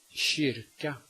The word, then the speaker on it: kyrka: If the K is located in front of a soft vowel at the beginning of a word, it is pronounced sh. Kemi, kemi. Ett kilo, ett kilo. En kyrka, en kyrka.